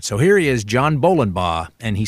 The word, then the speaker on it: Bolenbaugh: here he is John Bowen and he said in case I got into trouble trying to pronounce his name it's just like bowling ball so I started off